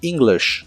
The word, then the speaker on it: English: y usaremos la palabra english que significa inglés el primer sonido es la i larga o doble y la letra y